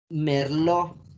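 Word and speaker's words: Merlot: caso por ejemplo de la de la uva merlo tiene la te estate no la queremos renunciamos es merlo ok es así como unos tipos hay para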